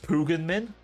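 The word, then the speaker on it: Pagan Min: me that um in Far Cry 4 it's pronounced Pugan Min, not Pagan, and everyone pronounces it wrong.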